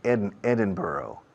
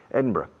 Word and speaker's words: Edinburgh: how do you say it well really the Americans say Edinburgh Edinburgh but the people in Scotland and England